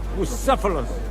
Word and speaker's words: Bucephalus: It's pronounced Bucephalus. What kind of name is Bruce? It's pronounced Bucephalus.